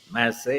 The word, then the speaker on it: Massay: having me here hector um the name is my say it's spelled m-a-s-s-a-y instead of the m-a-s-s-e-y you accustomed